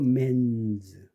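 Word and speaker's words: men's: 그러니까 mens가 아니고 맨즈 에라이 유성음 그다음에 W가 유성음이니까 s를 붙이면 이게 뉴스가 아닙니다.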